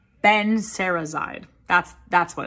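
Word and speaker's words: benserazide: in these videos because i know how to pronounce drug names benzerazide that's that's what it's called and conveniently these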